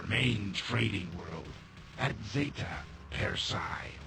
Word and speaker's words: Persei: Zeta Persei. How they pronounce that, not per se.